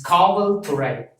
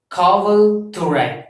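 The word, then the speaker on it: காவல் துறை: station, so that represents, so this police represents Kaval Thurai, K-A-V-A-L, Kaval, T-H-U-R-A-I, Thurai, Kaval Thurai.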